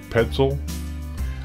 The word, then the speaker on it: Petzl: The next light is going to be it's spelled PETZI. Headlight. Petzl.